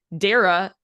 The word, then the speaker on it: Dara: and it's it's Dara spelled Sarah without the H and then pronounced Sarah with a D because I [ __